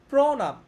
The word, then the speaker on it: প্রণাম: যেমন প্রভাত, প্রত্যয়, প্রণাম, ঠিক আছে? এইখানে এটা কিন্তু অ এর মতো উচ্চারণ হচ্ছে, কারণ হচ্ছে এইখানে এইটা হচ্ছে অ বা আ আছে, ঠিক আছে?